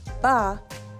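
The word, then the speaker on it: 八: That's because the word for the number 8, ba, rhymes with the word for prosperity, fa.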